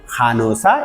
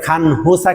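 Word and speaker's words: 간호사: খেয়াল করবেন খান হুসা কিন্তু বলতেছি না, এটার উচ্চারণ হবে অনেকটা খানোসা ইমনিদা ইমনিকা।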